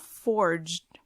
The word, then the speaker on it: fjord: So, it's even got fords. It's spelled Fjords. Fjord. Yes, and it's basically like little rivers amongst huge mountains.